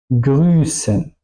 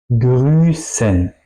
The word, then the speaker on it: grüßen: Es decir, tengo el efecto que la vocal antes es larga, ¿ok? Pero la S después es también larga, ¿ok? Straße, grüßen. Es decir, vocal y la S suenan largas. Eso sería la S picante.